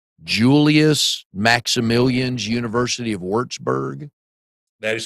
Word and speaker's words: Würzburg: Then forgive me if I pronounce this wrong. Julius Maximilians University of Würzburg.